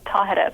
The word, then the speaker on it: Tahereh: them how to say my name which is tahereh by the way i i love the the